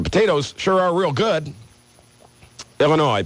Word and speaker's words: Illinois: Illinois, please do not pronounce the S.